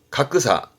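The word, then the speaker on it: 格差: 가크사, 가크사. 대차, 발음은 타이사.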